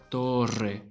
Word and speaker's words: torre: To play it safe, however, just roll a longer R than usual. Instead of torre, it will be torre, torre, rrr, torre.